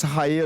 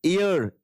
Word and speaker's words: heir: Option option h e i r it should not be spoken as higher or the correct pronunciation is air.